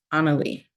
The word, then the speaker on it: Anna Lee: It's pronounced Anna and then Lee. Like that. That's all the space is for. Anna Lee.